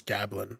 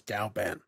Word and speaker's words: Galban: I've been saying his name wrong this whole time. It's Gablin, but it's Galban.